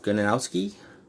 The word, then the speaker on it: Gronkowski: Rob Gronkowski. That's how you pronounce it.